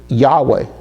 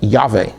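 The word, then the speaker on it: יהוה: Then we have a very familiar word which we already just talked about, sort of, which is Yahweh, or it could be pronounced Yahweh, okay, and that is Yod He Vav He,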